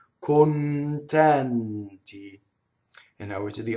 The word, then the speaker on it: contenti: Contenti. We need both N's in this word. Notice the first N leading into a T, second N leading into a T. Contenti.